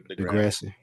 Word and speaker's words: Degrassi: Degrassi.